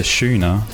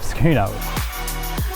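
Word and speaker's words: schooner: me smile like when you pronounce a skoa of beer as a shuna you just say bloody shuna instead of skuna you make me laugh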